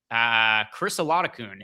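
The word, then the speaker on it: Chris Oladokun: and then you've got Chris Olakun, is I believe how his name is pronounced.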